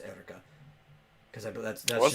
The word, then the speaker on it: Eureka: It's spelled Eureka, but it's pronounced Erica.